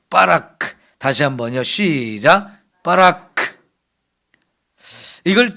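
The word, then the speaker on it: בָּרַךְ: 좀 약하게 발음 발음하면 바라크. 또 세게 발음하면 빠라크는데이 단어는 세게 발음을 해야 돼요. 빠라크.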